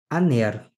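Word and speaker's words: ἀνήρ: E ele marca que a palavra não vai sofrer nenhuma alteração fonética. O alfa vai ser pronunciado da sua maneira costumeira, da sua maneira característica. Então, nós vamos pronunciar esta palavra aner.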